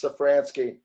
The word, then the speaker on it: Safransky: The Z is silent, so it's Safransky.